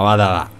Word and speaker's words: Vadalà: Ferdinando vadala hai capito Vadalà Vadalà ma Vadalà con con l'accento sulla Roger Waters sarà in